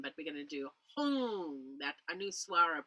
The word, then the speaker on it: Hung: And the mantra we're going to use with it is Hung, H-U, and then M, but we're going to do Hung, that anuswara pronunciation.